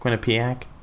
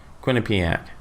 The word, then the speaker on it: Quinnipiac: a streak new jersey Quinnie pack so I pronounced like Winnipeg when a P AK Quinnipiac yes Quinnipiac I had my spectacles